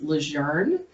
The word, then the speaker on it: LeJeune: young but um where i'm from it's actually pronounced lejeune and i gave up that fight around like